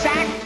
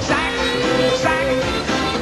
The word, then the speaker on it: Zach: Here it's spelled Zach, but in this commercial you definitely hear a J.